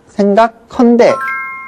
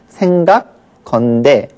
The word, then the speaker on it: 생각건대: 내가 생각하건대 이 경우에는 생각컨대 이렇게 제법 될 것 같기도 해요. 그러나 표준 발음에서는 아예 하가 다 줄어버린 것을 인정하고 있습니다. 그래서 이 경우에는 생각건대 발음도 그렇게 해야 되고요.